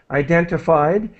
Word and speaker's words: identified: to help with pronunciation identified begins with an eye identified and cold so this